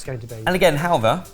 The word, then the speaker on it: halwa: And again, halwa, which we're putting a V in, despite the fact it's spelled with a W.